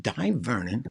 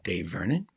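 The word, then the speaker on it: Dai Vernon: or fake news uh die vernon or dave vernon people pronounce it differently the professor also known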